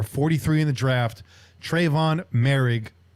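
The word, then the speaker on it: Moehrig: in the draft trayvon marig uh that's how you say his name it's merrig everybody i kept hearing them say merrick go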